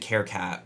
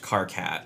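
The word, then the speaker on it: Karkat: There's a character called, I always pronounced it Carecat, but it's pronounced Carcat, right?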